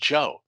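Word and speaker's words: Geoux: a problem one example g-e-o-u-x pronounced joe if there's any way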